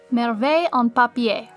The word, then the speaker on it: Merveille en Papier: But according to Google, it's Merveille en papier. So I was close enough. Yes.